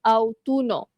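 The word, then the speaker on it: autunno: Okey, autum ataupun dalam bahasa Itali autuno. Autuno. Okey, similar bunyi autum kan?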